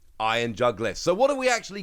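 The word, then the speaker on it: Iron Jugulis: iron juggless and yes I have checked the pronunciation on this one because I was not 100 sure but I've checked it and it is like jug iron jug list so what have we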